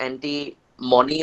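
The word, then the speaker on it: antimony: म हा इ it pronounce it properly correct pronounce करो इसको एंटी मराइड इ इट एंटी मनी और इट इ एंटी मनी एंटी मनी इ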